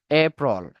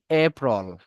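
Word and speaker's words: April: উচ্চারণ করতে হবে মার্চ এপ্রল আচ্ছা ভিডিওটা অন করে দেই এরপর হবে কি এপ্রল এপ্রল যেটাকে আমরা বলি এপ্রিল এপ্রিল কোথাও নাই আপনারা এগুলোর উচ্চারণ গুলো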